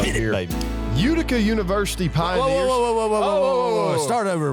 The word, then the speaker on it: Utica: Not Unica. Utica. With a T.